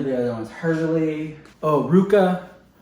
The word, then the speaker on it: RVCA: Oh, Ruka. It's spelled RVCA.